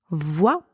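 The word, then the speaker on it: voix: vot as well here same pronunciation as the word before because the final x is silent so both word VA v o i e and VA v i x are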